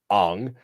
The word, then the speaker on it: Aang: Was when Aang, or again different pronunciation, Ang, sees the statues of all the past avatars.